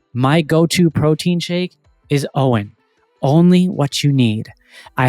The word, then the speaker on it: OWYN: Owen brings together the essential elements of advanced nutrition, amazingly clean ingredients, functional superiority, and uncompromised taste.